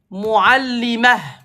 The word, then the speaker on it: معلمة: Par contre, si tu dis hadhihi mu'allimah et tu t'arrêtes. Quand tu t'arrêtes, tu prononces pas ta. Si tu continues, tu prononces ta.